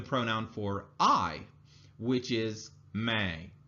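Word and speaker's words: मैं: for I which is Mei in Hindi now this has a slight nasal sound at the end of it so it's kind of like you're you're you can feel your nose shaking a little bit so if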